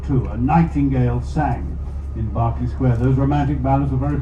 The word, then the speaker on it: Berkeley Square: Spelled Berkeley Square, but pronounced Barkley Square. It's a nightmare. English place names, especially in London, with weird pronunciations which don't correspond to the spelling. Berkeley Square is Barkley Square.